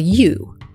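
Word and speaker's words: ewe: but a female sheep is often called a u now this is spelled gwe but it's pronounced just like the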